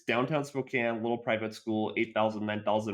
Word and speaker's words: Spokane: It's Spokane? I thought it was Spokane. It's Spokane. It's Spokane. Oh, Washington's so weird.